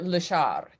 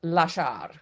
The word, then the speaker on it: lasciar: It doesn't seem like a hard word, but lasciar is actually a hard word because the accent is on the second syllable. And people who maybe don't have a lot of facility in Italian or not Italian tend to say lasciar instead of lasciar.